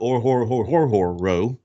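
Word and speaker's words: Orhorhoro: guys like uh rook or horror row okay now that's one that i have a that's one that's hard it's o-r-h-o-r-h-o-r-o and it's pronounced just like it looks or horror but i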